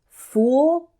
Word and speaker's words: fool: work on the pronunciation fool has an ooh sound the same as in food and rude it's different from the